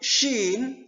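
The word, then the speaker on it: شين: Nah, penyebutan huruf shin seperti Anda mengusir peliharaan Anda, misalnya binatang yang masuk ke dalam rumah, kita mengharap binatang itu keluar. Kita usir. Nah, penyebutan itu kita sebutkan dalam huruf shin.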